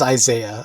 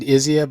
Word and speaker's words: Isaiah: You know, it probably is Isaiah. I've always said Izzia, but you're right. It probably is Isaiah.